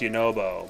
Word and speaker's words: Yunobo: We all know it's pronounced Yunobo, but...